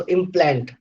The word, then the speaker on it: implant: So as you can see that when it is a verb, then second syllable is stressed, and when it is a noun, then the first syllable is stressed. So in implant, you have two syllables, and the second syllable plant is stressed.